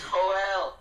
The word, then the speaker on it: Joel: Are you guys aware that it's Joel? It's Joel. I actually... That's how you say it in Spanish.